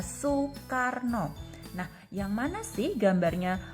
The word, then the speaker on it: Soekarno: Soe ini dibaca, kalau zaman sekarang dibacanya su. Nah, ini ejaan lama, tulisannya oe. Nah, Soekarno ini dibaca Soekarno.